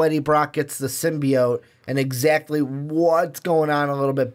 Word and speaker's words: symbiote: Is it's symbiote, not symbiote. But I'm a perfectionist.